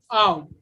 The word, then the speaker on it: ao: When we put them together, the pronunciation is how, but individually, the pronunciation of H is her and AO is ow.